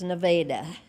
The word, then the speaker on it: Nevada: And it's spelled just like Nevada, but it was there before Nevada. So it is Nevada.